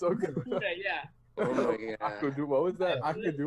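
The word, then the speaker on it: Okudah: the 2020 draft, the Detroit Lions select Jeff Okadua, quarterback. Are you kidding me? I literally had his name memorized. Okuda. It's Okuda.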